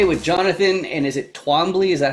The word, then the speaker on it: Twombly: I'm joined today with Jonathan, and is it Twombly? Is that how you pronounce it? Twombly.